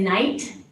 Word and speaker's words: Knight: My name's Knight. is a lot easier. Double silent letters at the beginning of my first and last name is crazy.